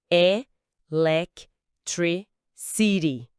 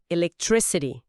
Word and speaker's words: electricity: E lac tre city. A sílaba tônica principal tá ali no trick. Agora falando naturalmente, electricity, um detalhe importante para quem fala português é o som do T em si.